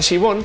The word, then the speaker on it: Siobhan: Siobhan, de hecho, si la vas a googlear, su nombre se escribe Siobhan, pero se pronuncia Siobhan porque pues nombres europeos.